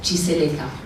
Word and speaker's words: Tshiseleka: Mi chiamo Signore Tshiseleka, quindi il nome a volte viene pronunciato male, però ve lo pronuncio Tshiseleka.